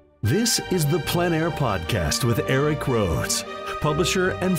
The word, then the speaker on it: plein air: Called plein air, the French coined the term, which means open air or outdoors. The French pronounce it plein air. Others say plein air. No matter how you say it, there